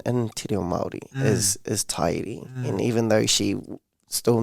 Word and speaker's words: Te Ariki: And I was like, as long as you know now that it is Te Ariki, then I'm not gonna